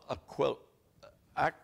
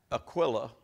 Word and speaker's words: Aquila: not Mount Herman it's mount hermone it's not aquil AC Aquilla it's Aquila Aquila that is the proper pronunciation of that name Aquila now you boys